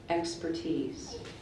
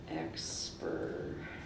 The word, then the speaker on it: expertise: Expertise. Alternate pronunciation, please. Expertise. We'll just be putting the expertise. It's pretty much the same either way.